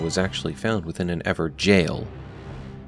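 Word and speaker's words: Evergaol: actually found within an Ever jail notice how I'm putting emphasis on jail as many in the community left comments calling us out on our mispronunciation of evergel as evergowl we've learned our lesson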